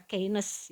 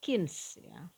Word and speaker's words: Keynes: marah kalau apa namanya bacanya Keynes ya harus bacanya kins hati-hati yakins itu model